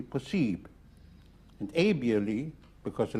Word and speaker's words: possible: They have the same spelling, the same meaning, except for the pronunciation, IBLE in French is pronounced ib, like possible would be possible.